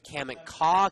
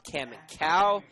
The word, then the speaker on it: Kamiko: We said Kaminka, Kaminkow. That one, of course, Jordan Brenner. But I did say Kaminka a couple of times, and it is Kaminko.